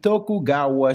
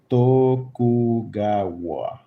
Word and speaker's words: Tokugawa: The tokugawa shong. How do you pronounce that? Tokugua. Tokugawa.